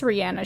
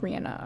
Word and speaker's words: Rihanna: accusing rihanna rihanna rihanna it's i think it's rihanna she pronounced like rihanna okay so they pronounce